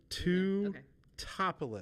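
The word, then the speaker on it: Teutopolis: Two topolis.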